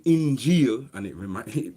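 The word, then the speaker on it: Injil: so when you say injeel and it reminds me it rhymes with reveal as well injeel means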